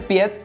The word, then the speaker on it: Piet Parra: por el ilustrador holandés Piet Parra. Que sí, amigos, no se dice Piet, se dice Piet Parra porque así es el nombre en holandés.